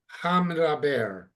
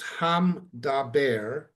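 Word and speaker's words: המדבר: Okay, hamdaber. Hamdab. And when you're reading it quickly, so when you're reading it quickly, technically it's hamdaber, Yeah.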